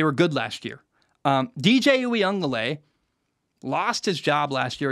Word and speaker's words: Uiagalelei: DJ Uiagalelei is how you say that.